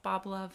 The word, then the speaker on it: BXB Love: of the artist, of Bob Love. Again, that's BXB Love. I'm so glad I looked up how it's pronounced, because I absolutely would have come on here and said BXB Love before.